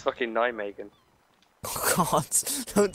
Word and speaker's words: Nijmegen: It's fucking Nijmegen. Oh god, don't say that. It's rigged to blow. And for future reference, it's Nijmegen.